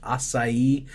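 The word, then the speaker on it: açaí: went to Brazil and I learned that it's pronounced acai and that it's just like frozen fruit from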